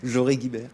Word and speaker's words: Joré-Guibert: Hein et Joré-Guibert, c'est comme ça qu'on prononce, Joré-Guibert.